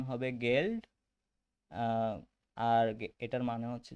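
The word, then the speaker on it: Geld: জি কে গে, মানে এটার উচ্চারণ হবে গেল্ড, আর এটার মানে হচ্ছে যে মানি বা টাকা।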